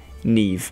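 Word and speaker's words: Niamh: okay so this is how you actually pronounce them ne ne shioon Shon Naomi Naomi and uh I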